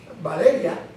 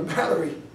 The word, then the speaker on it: Valeria: For example, there's a student, her name is Valeria. So I at the beginning I called her Valerie.